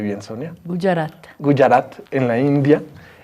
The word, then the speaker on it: Gujarat: Sonia de Otto es experta en no violencia, es académica de la Universidad Gujarat en la India. ¿Sí lo pronuncié bien, Sonia? Gujarat.